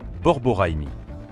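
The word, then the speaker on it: borborygme: On les appelle les gargouillis du ventre ou en bon français scientifique, borigmi prononcé borboraimi.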